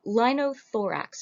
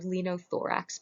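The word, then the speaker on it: linothorax: playlist for this week is the lino thorax or lino thorax both pronunciations are fine this is a piece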